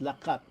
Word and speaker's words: Laat: co-founder of laat sustainables that's pronounced lat which I think in in in elongo means to walk to Walk yes the